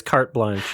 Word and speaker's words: carte blanche: I think it's carte blanche is the correct pronunciation.